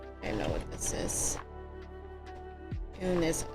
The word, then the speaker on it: un: Un. There you go. So it sounds like the letter oo sound in American English, like two. I want that too, but they have a particular pronunciation, so un.